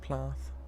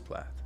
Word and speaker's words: Plath: i say plath right is it plot plot it's plot you said it wrong you said the thing wrong plath it is plath eat